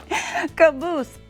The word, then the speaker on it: caboose: is called the locomotive the last car was called a caboose kaboose such a funny name it rhymes with moose hey TC who is